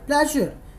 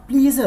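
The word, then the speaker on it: pleasure: हैं, तो उस समय आपको बोलना चाहिए माई प्लेजर। ये मेरा क्या है, ये तो मेरे सौभाग्य की बात है। और यहाँ पे प्रोनाउंसिएशन का बहुत ध्यान दीजिएगा जो मैं बोल रहा हूँ। It should be नॉट प्लीजर, कुछ लोग इसे प्लीजर भी बोलते हैं, नॉट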